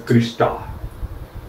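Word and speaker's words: crista: are called as Christie in singular they are pronounced as Krista one important information regarding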